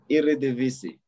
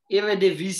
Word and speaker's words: Eredivisie: I pronounced it before the show, man. FC20. Yeah, no, the league. You guys won the Eredivisie. Eredivisie.